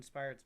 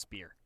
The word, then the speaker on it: Spire: It's pronounced spear. That's how your people pronounce it, but right.